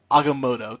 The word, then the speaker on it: Agamotto: Agamotto.